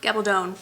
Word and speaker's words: Gabaldon: Gabaldone rhymes with stone I was told and um starts off in Scotland and kind of takes off from there.